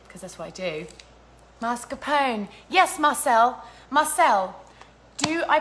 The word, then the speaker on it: mascarpone: Do I just say pone? How can you even tell me writing? We can't even discuss this. God. Yes, the E is pronounced. Thank you, Joseph. Cool. Nice. Okay, no E. Oh, Teresa is disagreeing with you, Joseph. Mascarpone with extra R.